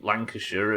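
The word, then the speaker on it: Lancashire: Over here calling Yorkshire and Worershare and Gloucester and Lancasher and all of these places Sh instead of Shia.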